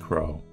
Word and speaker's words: Crow: yourself I should open your name is pronounced Crow and I'm not really sure how else you would pronounce it craw yeah this is a